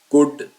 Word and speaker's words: could: कैन कुड इसमें L silent है। आप इसको कुड पढ़ेंगे।